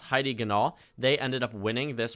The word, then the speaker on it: Heidi Ganahl: On the GOP side, I believe this is pronounced Heidi Ganahl.